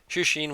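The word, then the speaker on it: 出身: Shushin wa doko desu ka? Or shushin, because there's kind of like a stop there, I think.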